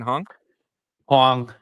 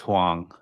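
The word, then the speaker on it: Huang: how do you say his last name Jensen Hong Hong it's weird it's because there's like two different ways to spell that last name but yeah it's pronounced hang so yeah but this is exciting man like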